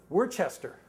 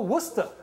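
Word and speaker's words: Worcester: s t e r she said oh wora I said no Worchester three syllables to ours and she said as sure as my name is kala that's wora so it's W so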